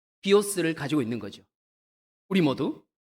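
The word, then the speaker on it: βίος: 그 중에 대표적인 것이 비오스라고 하는 단어가 있습니다. 우리가 영어에서 바이오라고 알고 있죠. 예, 그 I자를 영어에서는 I라고 발음하니까 바이오가 되고요. 예, 여기 라틴어나 헬라어에서는 그냥 E라고 발음하니까 비오가 됩니다. 예, 비오스.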